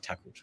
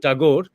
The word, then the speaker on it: Thakur: use this word Thakur and not Tagore, just because I'm talking in English, because Thakur is the name. And this is a bit shameful that we Indians and Bengalis continue to use the distorted pronunciation that the Europeans had started because they could not pronounce.